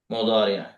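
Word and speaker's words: مضارع: দাদি এটাকে বাংলায় উচ্চারণ করে মুজারে বলে, যে কোনো দাদি প্রতিষ্ঠানে বললে ওরা মুজারে বলে, কিন্তু আমরা সঠিক উচ্চারণটা বরং শিখবো এবং প্রচলিত যে উচ্চারণ আছে সেটা আমরা শিখবো ইনশাল্লাহ।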